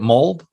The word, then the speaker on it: mulled: Is that how you say it? Mulled? Mulled, yes.